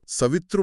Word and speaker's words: ಸವಿತೃ: ಉಚ್ಚರಿಸಬಾರದು ಖಂಡಿತಬಾರದು ಸವಿತೃ ಮಂತ್ರ ಎಂಬುದೇ ಸರಿಯಾದ ನಿಖರವಾದ ಮತ್ತು ಶಾಸ್ತ್ರಬದ್ಧವಾದ ಉಚ್ಚಾರಣೆ ಸಂಸ್ಕೃತದಲ್ಲಿ ಮತ್ತು ಮಂತ್ರ ವಿಜ್ಞಾನದಲ್ಲಿ